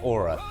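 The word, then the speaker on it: Oura: Yeah, Aura. That's how you pronounce it. I think Aura is reportedly considering to go public as early as next month.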